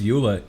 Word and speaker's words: EULA: to agree to and he pronounces EULA e-u-l-a yeah what a sicko what do you mean let's just how you say it no he pronounces it e u l a he doesn't say Eula yeah I know yeah